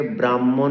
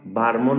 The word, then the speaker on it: ব্রাহ্মণ: রফলা আকার হয়েম মধ্যন অনেকে এ শব্দকে ব্রাহ্মণ বলে ব্রাহ্মণও বলে আবার অনেককে দেখলাম বারমন বলছে তো ওই শব্দের মত এই শব্দকেও আমাদের নাসিক্য ব্যঞ্জনকে প্রথমে উচ্চারণ করে হ ব্যঞ্জনকে কে পরে উচ্চারণ করতে হবে কি উচ্চারণ করতে হবে ব্রাহমণ ব্রাহমণ এবার